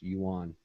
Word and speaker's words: yuan: one other note the uh that currency it's pronounced Yuan Chinese Yuan okay let's Sidetrack for a minute